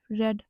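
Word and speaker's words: read: सच identification form है रेड इसको हम प्रोनाउंस तो रेड करते हैं लेकिन लिखते हैं हम इसको रीड की तरह ही है तो यहां पे भी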